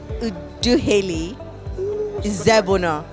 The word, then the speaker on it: Udukheli Izebuno: I have Udukheli Izebuno.